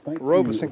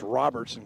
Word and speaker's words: Robeson: socks i wonder how i wonder how many times robeson county gets pronounced robertson county or mispronounced like that how